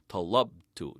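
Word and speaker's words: طالبتُ: Talabtu, talabta, talabti. But in Form 3 verbs, we put the accent on the first syllable.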